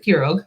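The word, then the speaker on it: pirogue: one that is not spelled like it is pronounced is puro apiro p-i-r-o-u-g-u-e it looks like pirog sometimes they say piro hero piro what is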